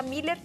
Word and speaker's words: Muller: Como tem o tremo em cima do U, se pronuncia Miller, mas é M-U-L-L-E-R.